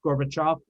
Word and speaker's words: Gorbachev: out why you have russian names that end with ev but they're pronounced like off like gorbachev or khrushchev yeah i never could